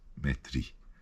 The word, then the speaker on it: metri: are exceptions to this the I at the end of a word if you've got a double uh consonant for example meters met metri you do pronounce metri and that gets the r in as well metri so um you do pronounce the the ey there but normally no galat